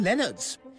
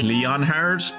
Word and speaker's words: Leonard: my word over King Leonard's those who claim that blood runs thicker than water grossly overstate the case my beloved fellow Mouse also his name it's not pronounced Leonard it's pronounced Leon har All right I'm I